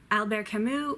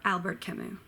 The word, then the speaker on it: Albert Camus: saint-exupéry Albert can you uh bad gap me Albert Camus or Albert Camus jean-paul Sartre Jean boy sack sorry this one's